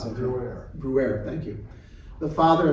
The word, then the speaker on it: Bruer: Bruer, how do you pronounce that? Bruer.